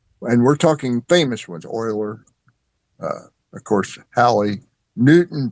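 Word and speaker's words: Leonhard Euler: Haley's was the last serious scientific attempt at describing uh a hollow earth until Linhard Uler Oiler we call pronounced it oiler. Yeah, Oiler. Okay, thank you. Linhard Oiler. In the 18th century, a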